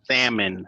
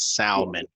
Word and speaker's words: salmon: it's salmon, not salmon. Well, I like to say salmon.